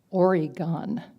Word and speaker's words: Oregon: So they blazed a trail out west, and they discovered this beautiful state called Oregon. And we all had to pronounce that right, Oregon. Gun.